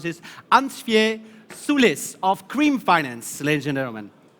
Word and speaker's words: Ansviesulis: so I was already thinking about how to pronounce this uncia Sulis of cream finance legend airman that's correct hi